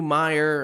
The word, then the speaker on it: Mayer: We're going with Matthew Meyer or Mayer. I don't know how to say it. It's Mayor. Is it Matthew Mayer?